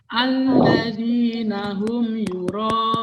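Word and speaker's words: الذين هم يراءون: Berarti dibaca panjang juga, ya. Terus nanti itu mat arilis sukun, baca panjang juga. Jadi bacanya alladzina hum yura'un. Kira-kira seperti itu panjangnya ya.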